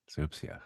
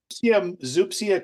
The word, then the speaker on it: zoopsia: Zoopsia. Okay. First time I've ever heard that pronounced. Well, Zupsia could also be pronounced zoopsia.